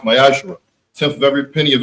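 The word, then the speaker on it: מעשר: Also in the book of Malachi, chapter 3, verses 8 through 10, which means the 10th in Hebrew and is pronounced Mayashra.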